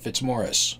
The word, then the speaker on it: Fitzmaurice: you spell my name that's how you pronounce it fitzmorris my preferred pronouns are